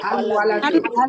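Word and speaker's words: الولد: ছেলেটি হলে হবে আল আল ওয়ালাদু। ওয়ালাদু। আল ওয়ালাদু। ওয়ালাদু। কমারিন শামসি ওয়াও। ওলাদু ওয়া। খামারি কমারি, জি। লামের উচ্চারণ হয়েছে।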